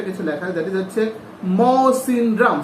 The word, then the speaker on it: Mawsynram: তারপর দেখো ব্র্যাকেটে একটা কিছু লেখা, দ্যাট ইজ হচ্ছে মৌসিনরাম। স্পেলিংটা, উচ্চারণটা হচ্ছে মৌসিনরাম, MAWSYNRAM।